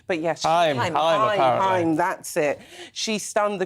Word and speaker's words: Haim: I always pronounce their name wrong. But yes, Haim, that's it.